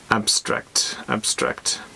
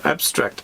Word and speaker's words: abstract: So the stress is on the first syllable. Abstract. An abstract idea or way of thinking is based on general ideas rather than on real things and events.